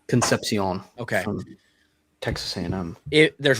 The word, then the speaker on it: Concepcion: Concep Con I I I believe his last name is Concepcion. Is it Concepcion or is it Conception? Concepcion.